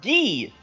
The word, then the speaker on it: Guy: His name looks and is spelled Guy, but apparently it's pronounced Gee.